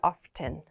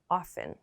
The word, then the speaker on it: often: in everyday speech and when we pronounce this at least in american english we don't pronounce this t we don't say often often we usually pronounce it as often often so please keep